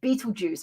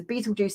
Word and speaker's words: Betelgeuse: So Betelgeuse, not spelt Beetlejuice, spelt with a G, not a J.